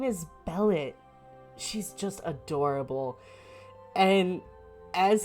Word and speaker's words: Bellette: Okay, Bellet is spelled Bellette. So 1 L, 2 T's. Oh my god. So as he says, her name is Bellet.